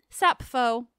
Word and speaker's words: Sappho: nerd and share that in modern Greek it's pronounced sappho which I love it's a reminder of